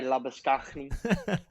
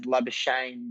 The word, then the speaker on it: Labuschagne: Obviously, when you go to South Africa, everyone wants to say Labuschagne. But, it's probably more now renowned now, or people know me more as Labuschagne than they do, because obviously I'm from Australia.